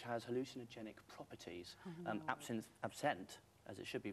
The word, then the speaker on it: absinthe: one word which has hallucinogenic properties and options absent as it should be pronounced it's a French for wormwood and that's